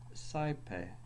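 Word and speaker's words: saepe: So, I, as in karai. or saipe, Ow, ow, ow, ow, ow, ow, as in out.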